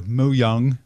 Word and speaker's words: Mojang: the makers of minecraft mojang or mo yung if you want to mispronounce it in swedish like i just did for 2.5 billion